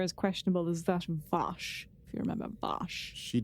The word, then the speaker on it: Vash: I thought her ethics were as questionable as that of Vosh.